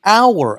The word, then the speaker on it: hour: He'll arrive at an hour. Aquí está interesante. Aquí la H no es una vocal, pero es una silenciosa.